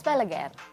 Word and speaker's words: Balaguer: What's the pronunciation? It's Balaguer.